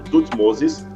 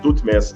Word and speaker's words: Tutmés: repetindo o nome dele Pode ser pronunciado tutmosis ou tutmes segundo quer ver mais